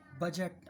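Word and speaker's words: budget: बजट, आपने सुना होगा बजट, गवर्नमेंट ने बजट बना दिया, बजट प्रस्तुत कर दिया, इसमें भी डी साइलेंट है।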